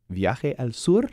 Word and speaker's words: Viaje al Sur: Viaje al Sur?